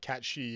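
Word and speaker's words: cat sìth: so the one that's it's really ironic that you've changed it right after saying that cat shei is like cuz that that's the actual pronunciation of the actual mythical creature but well I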